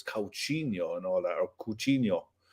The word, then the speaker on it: Coutinho: was going mad because we were pronouncing it coutinho we were all wrong he was like it's calcino and all that our